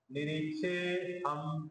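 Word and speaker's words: निरीक्षेऽहम्: वर्णन करू यावता निरीक्षेह परत अवग्रह चिन्ह आला तो एस प्रकारचा चिन्ह त्याला आपण अवग्रह चिन्ह म्हणतो निरीक्षे हम अ लपून घ्या निरीक्षे हम असा उच्चारण योद्धू कामान अवस्थितान कैरमया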